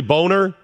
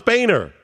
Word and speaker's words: Boehner: great one I mean isn't that really boner but at least it's oh no it's Boehner excellent point I don't know if it was originally pronounced boner or not maybe a hundred years ago maybe 10 years ago but at this point it's Boehner and if somebody screws it up and says boner it's on them right